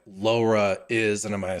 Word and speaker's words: LoRa: Can you tell us like first what like LoRa is, and am I saying it right? And then what is Yeah. reticulum? Sure. So it's actually you've ordered it perfectly. It makes sense to start with LoRa first.